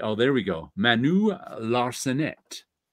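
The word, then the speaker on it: Larcenet: there we go Manu laret L the t is silent because it's the last letter in the word I'm take a screenshot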